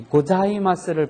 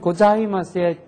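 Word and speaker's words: ございます: 자, 지, 즈, 제, 조 할 때는 괜찮은데 앞에 음이나 뒤에 음과 같이 섞여서 연음으로 발음할 때는 이 발음이 매우 어려운 걸로 되어 있습니다. 그래서 선생님도 유학 시절에요. 이 고자이마스를 발음을 잘못해서 일본 사람들한테 놀림을 많이 받은 적이 있습니다.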